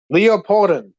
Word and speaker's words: Leopardon: Leopardon. Like Leo, like the lion, pardon.